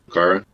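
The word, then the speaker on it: Rokara: Is that how you pronounce it? Rakara?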